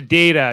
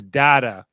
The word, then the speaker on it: Data: a little mean to data she mispronounced his name as dada a lot of the